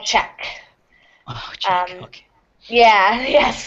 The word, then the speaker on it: Czech: okay yeah yes so which is strange because it sounds like the word check I get many mixups when I'm speaking here I yeah I thought you say check like this yes they they are pronounced exactly the same um I always I